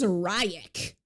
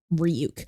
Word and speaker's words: Ryuk: when light Turner goes who's ryak and then ryuk like the whole scene of ryuk like manifesting and he goes It's pronounced ryuk was so good I